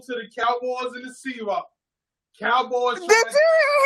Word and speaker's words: Seahawks: All right, now on to the Cowboys and the Seahawks. Cowboys Did trying you hear him say y'all name wrong? He called y'all Seawalks like y'all Ewoks or something. Not Seahawks, but Seawalks.